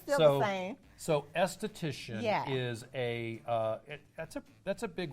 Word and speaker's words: esthetician: It's just the A careful. is silent. The A is silent. Okay. It's still the same. So esthetician Yeah.